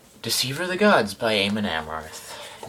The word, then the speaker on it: Amon Amarth: Gods by Eamonn Amarth no I'm not going to pronounce it a monomart no matter how many people Badger me if I were to pronounce it as a monomers on a regular basis I would probably want to cut my tongue out because that pronunciation is absolutely painful for me to say I don't really care